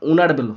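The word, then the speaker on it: honourable: হয় এর মত না হলে এন বসে এখানে উচ্চারণ ওনারেবল হোনারেবল নয় তাই এন বসে গেল নাম্বার 26 ড্যাশ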